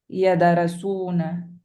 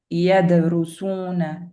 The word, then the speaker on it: يدرسون: You're not gonna say yadarasuna. It's kind of like halfway. Yadrusuna, yadrusuna.